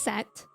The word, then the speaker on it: Set: to the vent oh I think the H is silent it's just set that makes sense I'll just